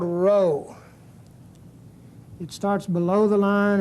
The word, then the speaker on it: rho: p in English but it's a row it's equivalent to an R and it's pronounced like the r in the word run R sound it's called rho each one of these